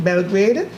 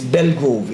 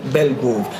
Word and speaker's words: Belgrove: If I may just interject for a second, the actual pronunciation, and I know I see you struggling, you forgot your spectacles at home, it's Belgrove, it's Romain Belgrove. Just a little correction in terms of the pronunciation of the surname of the winner.